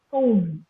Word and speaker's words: comb: Okay, the last B is silent. It is bomb, comb, dumb, land, climb, thumb, tum.